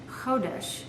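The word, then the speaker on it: חודש: The third form is a noun, and it's pronounced chodesh, which means new moon or month.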